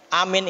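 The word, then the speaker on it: آمين: Amin itu a-nya itu 6 harokat. Ya, kalau saya ngajarin ke anak 6 harokat itu gini, amin. Pakai ini jari, amin. Tuh. Bukan amin, ya.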